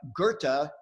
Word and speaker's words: Goethe: Shakespeare and I know this doesn't look like Goethe I don't know anything about German but I know that's how we pronounce his name but here's what Goethe said